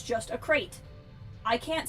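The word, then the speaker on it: Krayt: for the cat dragon everyone pronounces it crate the crate Dragon of tne I understand that's the the Canon pronunciation of the Dragon I think it's a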